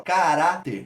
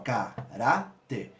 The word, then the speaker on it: caráter: Qual é a sílaba tônica? Urá. Como a sílaba tônica é a penúltima, a gente classifica como uma paroxítona, como a gente já viu na última aula. E sendo uma paroxítona terminada em R, eu acentuo. E como urá é, ó, timbre aberto, urá é o acento agudo.